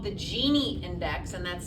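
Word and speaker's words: Gini: n z and the other is called the genie index and that's spelled GI i n okay the genie index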